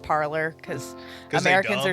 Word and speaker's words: Parler: Parlay, but now they're calling it Parler because 'Cause they Americans dumb. are stupid. Because they dumb. Because they dumb. All right, so the Parler will give you two different definitions.